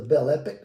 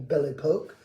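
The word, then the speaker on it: Belle Époque: Either the bell epic or ble poke if you do it the French way.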